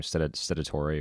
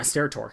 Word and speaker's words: Steratore: How do you pronounce his last name? Stedatore or something like that. Yeah, Steratore.